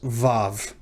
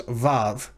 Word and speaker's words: vav: of while is because moderns pronounce this letter as vav or as a v in vine just like the bait